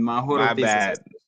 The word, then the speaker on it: Mahoro: The h is actually pronounced in mahoro.